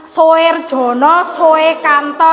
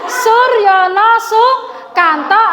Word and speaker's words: Soerjono Soekanto: siapa itu Bacanya jangan Soerjono Soekanto ya tolong tolong Suryono Sukanto atau Soerjono Soekanto menurut